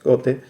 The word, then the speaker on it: Goethe: Era una parodia del Fausto de Goethe, Wolfgang von Goethe, o Goethe, como en realidad le digo yo, pero si uno escucha cómo se pronuncia es Goethe.